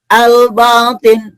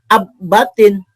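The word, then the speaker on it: الباطن: Contohnya ini, bacanya al-batin, bukan ab-batin, tapi al. Nah, lamnya dibaca terang, jelas nih.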